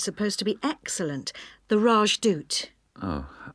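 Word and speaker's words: Rajdoot: in weatherfield is supposed to be excellent the rajdut oh how do you spell that r a j d o o t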